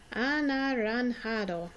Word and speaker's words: anaranjado: Anaranjado. Anaranjado means orange. Okay, try and say it with me. Anaranjado. Notice the J sounds like an H.